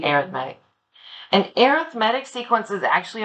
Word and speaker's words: arithmetic: an arithmetic sequence it looks like the word arithmetic but for some reason for sequences we print pronounce it slightly differently we say arithmetic an arithmetic sequence is actually a linear function